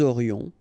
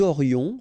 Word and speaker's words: aurions: Nous aurions, final S not pronounced, and then you've got this liaison, nous aurions.